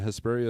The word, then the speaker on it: Hesperia: Hesperia is pronounced like diarrhea.